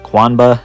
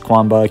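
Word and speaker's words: Qanba: There's definitely some good ones out there, like I can't pronounce this company's name, but Quanba. I think it's Quanba, Q-U-A-N-B-A.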